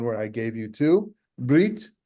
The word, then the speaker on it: brit: Brit, so Brit, you may know from the Ashkenazic pronunciation, a bris. Do our Christian friends know what a bris is? Circumcision. Yes. The Yiddish pronunciation of a circumcision. So a mohel is the one who does the bris, but it's actually in Hebrew mohel and brit.